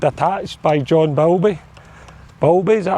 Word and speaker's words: Bowlby: And one of the things that changed everything for me was a book called Attached by John Bowlby. Bowlby, is that how you pronounce his name?